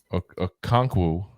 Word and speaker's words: Okonkwo: Had, Okonkwo, I believe is how you pronounce the last name I remember correctly.